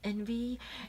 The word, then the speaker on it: NV: this is their new line of foundations called envy it's the actual letter N and V but pronounced and V like envy anyway this foundation is really cool it comes